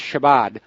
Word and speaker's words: Shabbat: I believe it's pronounced Shabbat.